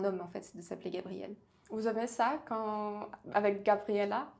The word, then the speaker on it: Gabrielle: Et souvent les Russes, ils font une faute d'ailleurs quand ils m'appellent Gabriella, alors que c'est pas français, on dit Gabriel tout court.